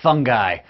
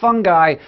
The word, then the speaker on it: fungi: hello and welcome to the wonderful world of fungi or fungi both are acceptable pronunciations but I say fungi because it's fungus not fungus though fungus is